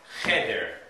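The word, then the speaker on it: חדר: Cheder. The accent's on the first syllable, not the second.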